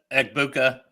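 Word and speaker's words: Egbuka: How do you pronounce his name? That's Ebuka.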